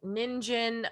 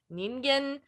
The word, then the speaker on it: ningen: type deal um but the word which we've been saying ninjin i think the proper pronunciation is something more closer to ningen um it does mean